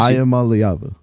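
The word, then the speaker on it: Iamaleava: that it is I am aava okay bless I am alava that's how you pronounce it yeah so anyway Nico and then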